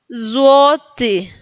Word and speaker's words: złoty: Vimos en el anterior ejemplo que se pronuncia entre E y I, la Y, ¿no?